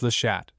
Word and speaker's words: Les Chats: Our destination is, or appears to be, care of Veuve Peter Ross, Les Chats, pronounced Le Chat, so Simpson told me.